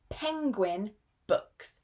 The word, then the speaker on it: Penguin: Penguin Books. Penguin, quite a difficult word to say because we have that sound in the middle. Penguin, not penguin.